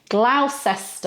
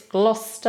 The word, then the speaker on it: Gloucester: No, it's Gloucester and Gloucestershire. Okay, so it's a sh sound at the end.